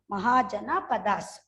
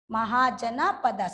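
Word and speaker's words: Mahajanapadas: Mahajana Padas. MAHA Maha. JANA Jana. Then Padas. PADAS. Mahajana Padas.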